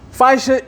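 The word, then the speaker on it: fascia: It's spelled f a c s i a. Fishia is connective tissue.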